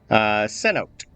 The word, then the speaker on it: cenote: I don't know how to Cenote? pronounce it.